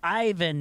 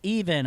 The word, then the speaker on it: Ivan: It's pronounced Ivan, not even.